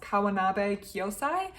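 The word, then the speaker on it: Kawanabe Kyōsai: a particular Japanese artist I think it's pronounced kawanabe kosai and kosai has these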